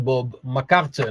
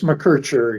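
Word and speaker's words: McKercher: What is the right pronunciation? Bob McCarter. No, it's Mercher. Yes.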